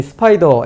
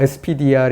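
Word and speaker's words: SPDR: 140개 이상 운영하고 있습니다 spd 알은 스타 2 더 라고 읽고 요 어 이게 뭘 잡으려고 하는 건지 잘 모르겠지만 어쨌든 이 스파이더 spider 이라는 그 etf 운영하고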